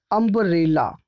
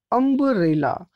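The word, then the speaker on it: umbrella: इसका उच्चारण क्या हो रहा है? इसका उच्चारण हो रहा है अ, और अ क्या है प्यारे बच्चों? ये है एक वॉवेल, ठीक है।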